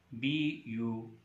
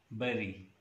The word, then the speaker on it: bury: The first word is B-U-R-Y. Commonly, this word is pronounced as bury, isn't it? But in English language, the correct pronunciation of this word is bury. Bury. I repeat, it's bury, not bury.